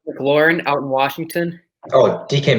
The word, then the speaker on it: McLaurin: terry how do you say his last name mclaren mclaurin out in washington oh dk matt has better